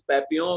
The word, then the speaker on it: Papillon: official residual tumors and this is papillon where l is silent it's a french name okay yeah yeah so